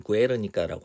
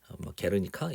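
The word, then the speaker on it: Guernica: 스페인어로는 구에르니카라고 하고요. 이제 영어로는 게르니카 이런 식으로 발음하면 되겠네요.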